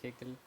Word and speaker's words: Haeckel: Muy bien, Oscar, hay un autor interesante, quiero pronunciarlo bien, Haeckel, ¿no es cierto? ¿Está bien o no? Sí, Haeckel.